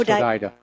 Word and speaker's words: Hodeidah: It's pronounced Hodeidah.